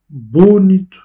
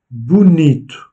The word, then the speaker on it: bonito: On ne dit pas bonito, ni même bonito, non, bonito. L'accentuation est faite sur l'avant-dernière syllabe.